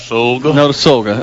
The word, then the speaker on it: Notasulga: We were discussing the Pat Dye show that Coleman was referencing earlier was produced and what's pronounce that place again? Notasulga.